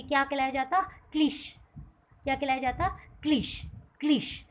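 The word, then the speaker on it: cliché: को हम और आप बहुत ज़्यादा स्ट्रेस करके बोलेंगे। ठीक है, इस हम अपने प्रोनाउंसिएशन को, यानी कि हम और आप अपने उच्चारण पर बहुत ज़्यादा प्रभाव डालेंगे, दबाव डालेंगे और उस शब्द का उच्चारण हम एक के शब्द से करेंगे, यानी कि हम इसको क्या बोलेंगे? क्लीशे।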